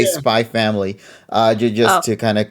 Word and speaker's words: Spy x Family: just to clarify, yes, it's called Spy X Family, but I believe just like with Hunter, nobody ever pronounces the X part, so they just say Yeah. Spy Family.